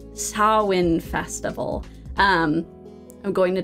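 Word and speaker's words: Samhain: not to call this Sam Hayne that is how it is written that is not how it is pronounced in Gaelic sain Sinn okay so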